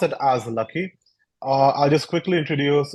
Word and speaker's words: LAKY: of our project or our language is called lucky it's spelled uh it's made using all our initiatives basically l a k y all the people have developed this language and we pronounce it as lucky uh I'll just quickly introduce our team to